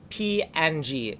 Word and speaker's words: PNG: graphics portable network graphics png officially pronounced ping more commonly pronounced png is a raster graphics